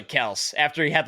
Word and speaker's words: Kelce: Yeah, Travis Kelce was like, it's actually Kels after he had like 8 All-Pros.